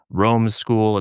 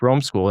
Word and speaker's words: Romeschool: and she really liked Romeschool, and she's pointed out that it rhymes with homeschool, which hadn't even occurred